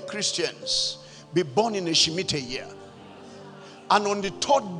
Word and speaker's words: Shemitah: Why will a bank that will redeem Christians be born in a Shemitah year?